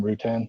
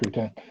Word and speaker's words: Rutan: Is that how you say his name, Rutan? Yeah. Eric Rutan.